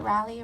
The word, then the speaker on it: Raleigh: one more reader Audrey t Williams moved from Raleigh North Carolina is that how you say it rally rally Raleigh Raleigh Raleigh sorry California girl okay